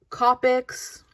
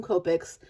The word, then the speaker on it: Copic: bit so today we're going to talk about copic markers and before i even get started i know that a lot of people call them copics a lot of people call them copics a lot of people call them something all